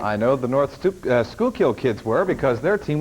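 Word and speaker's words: Schuylkill: I know the North Skookill kids were because their team was in the playoffs. North Skookill.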